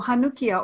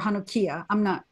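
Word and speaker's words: Hanukkiah: Yeah, so Hanukkia or Hanukkia, I have heard different ways of pronouncing it in Hebrew.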